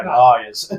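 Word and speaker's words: Lyre's: I know you said layers, but no, Lyres.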